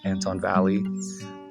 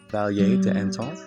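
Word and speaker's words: El Valle de Antón: I was saying like Anton Valley, which in Spanish should be valet to Anton.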